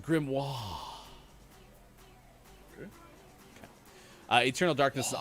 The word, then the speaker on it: grimoire: got flipped turned upside down ladyk says it's pronounced grimoire uh eternal darkness is an awesome game that